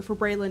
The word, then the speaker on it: Breland: So like for Brayland, it was also could be like Breland or Breland, but he's like, but Queen Bray.